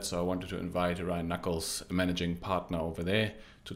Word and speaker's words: Ryan Nuckolls: digital infrastructure group Ryan how did I pronounce your name how are you doing really good Jesse thanks for having me on the show today glad to uh glad to be here ran Knuckles you pronounced it just right perfect you want to